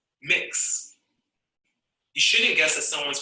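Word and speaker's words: Mx: of honorifics gender expensive people often use the honorific pronounce mix you shouldn't guess that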